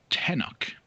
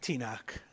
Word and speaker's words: Tenok: So Tenok, tell us a little bit about yourself. Well, we like to pronounce it Tinok. Sorry, I'm Tenok.